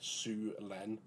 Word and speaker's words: Syulen: So the Syulen, as I'm reliably informed, it is pronounced as like the like a Chinese name, right? Syulen.